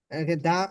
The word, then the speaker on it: the: দি under দি umbrella, দা লেখা হয়েছে বাংলা, এখানে দি হবে। দি কেন হবে, কারণ আমব্রেলা এর প্রথম অক্ষরটা হচ্ছে ইউ, আর এটা হচ্ছে কি ভাওয়েল, আর ভাওয়েল থাকলে দায়ের উচ্চারণটা দি হয়।